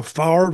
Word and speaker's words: Favre: pronounce it well I think it's they they pronounce it now Favre I guess but but I wish all of